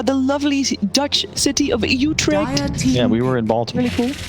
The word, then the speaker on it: Utrecht: lovely dutch city of utrecht yeah we were in baltimore you can pronounce it the dutch way there you go you trekked team liquid the willow